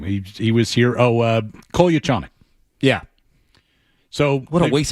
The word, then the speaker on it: Kolyachonok: He says, you really can't pronounce it wrong. It's Russian. There's no English pronunciation to it. I was like, okay, great. I said, well, how do you say it? He said, Kolyachonok.